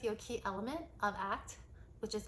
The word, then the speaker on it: ACT: It stands for acceptance commitment therapy and it's abbreviated ACT and it's pronounced ACT, not ACTs.